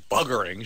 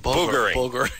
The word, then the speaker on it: buggering: Boogering. Boogering. But I'm from the north of England, remember. People in London say buggering. They say buggering. Thank you. I say boogering.